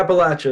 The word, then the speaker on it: Appalachia: But yeah, Appalachia is the right way to say it, I believe.